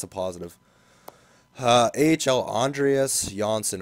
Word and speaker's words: Andreas Jansson: positive uh AHL Andreas jansson apparently that's how you say it I thought it was Johnson but it's not he went from a